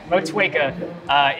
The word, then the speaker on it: Motueka: Motueka. Oh, no, you nailed it. There you go. Yeah, that's fine. Motueka is the only hop used in this beer.